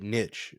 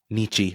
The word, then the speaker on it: niche: I think like Hellfire's a strong one for mine, but the other ones are like a little bit niche. Like the Warriors concept album is what? Nichi.